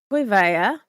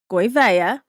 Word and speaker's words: Gouveia: Although I would love to know, Yankee got raided on Friday by Robert Gouveia, and that is how you say the name in Portuguese. It's Gouveia.